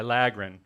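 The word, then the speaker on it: filaggrin: look it up how to say it yeah phylagrin okay phylogren all right I'm gonna I'm gonna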